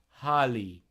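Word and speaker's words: hālig: to name him again Holly you don't pronounce the G it's just that yes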